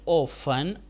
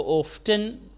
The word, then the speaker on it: often: اینڈ از اوفن، OFTEN اوفن، اوفن کا مطلب اکثر. اس کو اوفٹن بھی بعض لوگ بولتے ہیں، عام طور پہ عام تلفظ اس کا ہے اوفن، ٹی سائلنٹ.